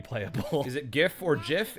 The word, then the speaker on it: GIF: I kind of like gief I kind of wish that was like the the standard listen yeah I know that the creator of GIF said it's actually supposed to be pronounced Jiff but nah I'm gonna